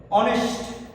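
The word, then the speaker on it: honest: অনেস্ট, তার মানে উচ্চারণটা কি দিয়ে আসলো ও দিয়ে।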